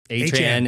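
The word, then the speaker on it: Etienne: Devin Lloyd, linebacker, um, quarterback Greg Newsome, um, Travis Adrian is how he wants to is how he says it's pronounced.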